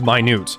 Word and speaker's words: minute: It's pronounced minute. Oh, minute.